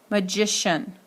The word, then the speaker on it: magician: So we have magic, and the final accent is on the C, and then we have to look at this one, magician. Where is the accent on that word now? Magician, magician. Okay, it's no longer on magic, magician.